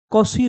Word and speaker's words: Cauchy: कॉशी relation. वैसे इसको लोग कोची बोल देते हैं, CAUCHY इसकी स्पेलिंग होती है, पर मैथ्स वाले इसको कोशी बोलते हैं।